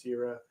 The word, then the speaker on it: Sira: The woman with the battle axe is Tarja, and the other is Sira, pronounced Sira. They have no pupils, as darkness has started to set in and a thick fume is filling the sky.